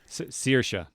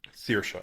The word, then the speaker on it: Saoirse: Saoirse, yeah. Sear like searing pain. Saoirse, okay, great.